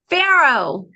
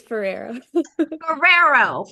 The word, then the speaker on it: Forero: I like the way you pronounce my last name, but it's Ferrero. Ferrero, like a Ferrari kind of Ferrero. Yes, like Ferrero is share, but I'm spelled with an Forero.